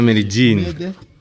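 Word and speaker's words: Medellín: Villa Medellin. Mede. Not med. It's Mede. Medellin.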